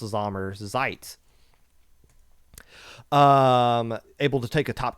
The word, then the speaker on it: Sommerzeit: I don't know how to pronounce all this other headboard smashing letters on the back of Sommerzeit, but I know this at least first part is pronounced Sommerzeit.